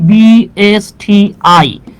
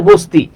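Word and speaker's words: BSTI: বলি আমরা যখন লিখি বি এস টি আই তখন আমরা কিন্তু এটাকে এটাকে কোন ওয়ার্ডের মত করে উচ্চারণ করি না আমরা এটাকে লেটার বাই লেটার উচ্চারণ করি আমরা কি বলি বি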